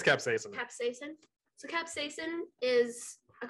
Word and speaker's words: capsaicin: I was gonna say capsaicin.